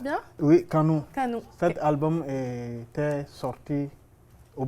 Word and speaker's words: Canu: train de lancer un album Canu oui je prononce bien oui canou cet album était sorti au Burkina Faso le